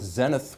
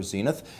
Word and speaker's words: Zenith: We are here with Zenith, which can also be pronounced Zenit if you want to be precise. It is never Zenith.